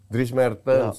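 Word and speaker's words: Dries Mertens: baru habis itu dia ke koci maaf cara bacanya apa tuh dris Mertens drris Mertens Dris Mertens Oke lanjut yang nomor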